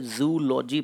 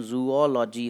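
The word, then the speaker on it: zoology: बहुत से लोग इसे जूलॉजी पढ़ते हैं, इसका करेक्ट प्रोनाउंसिएशन जूओलॉजी होता है।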